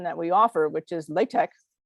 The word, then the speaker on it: LaTeX: we offer which is latex sometimes pronounced latex really doesn't allow you